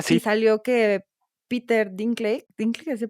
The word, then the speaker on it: Dinklage: Ah, Y sí, salió que Peter ¿Dinklage se pronuncia?